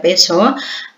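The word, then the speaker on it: Piaget: Yang berikutnya menurut Peso, Bapak Ibu, tulisannya pijat dan bacanya Peso.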